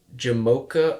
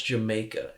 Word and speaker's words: Jamocha: and cream chocolate crust jamocha almond fudge and heath chocolate crust also i just want to point out i didn't mispronounce jamaica it is jamocha and the last one